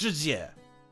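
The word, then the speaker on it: Jessie: It's obviously pronounced Jizye.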